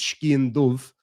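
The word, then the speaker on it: sgian-dubh: So skin do, or as we would pronounce it in this part of Ireland, is skin dove. I think in Scotland they would be more likely to say skin do.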